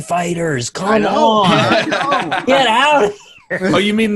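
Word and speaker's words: FighterZ: pedantic and annoy Namco apparently its fighters its fighters like you know hey just so you know in-house we pronounce it fighters well why did you put a Z we don't close Dragon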